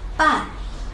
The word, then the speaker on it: 伴: 首先听我的发音，伴，波岸，伴，伴是四声。